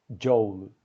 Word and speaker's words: joule: É assim que se pronuncia em inglês, apesar de que no Brasil é muito comum as pessoas falarem Joule. Lê o OU como se fosse um A aberto. Eu sinceramente não sei o motivo histórico, eu não sei se o nome do James, né, James Prescott, era Joule ou Joule, mas eu sei que em inglês se pronuncia Joule ou Joule, não Joule.